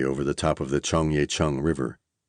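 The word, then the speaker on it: Cheonggyecheon: the top of the Chongya Chun River. That's Chong Ya Chun for phonetically challenged Americans.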